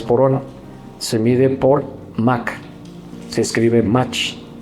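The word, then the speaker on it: Mach: Se pronuncia MAC, la velocidad.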